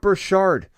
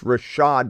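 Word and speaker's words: Rachaad: Jimmy it's not shark his name's not burchard you're telling me that he's a top three or four round player and you can't even say his name right it's Rashad white not brashard finish him uh Jimmy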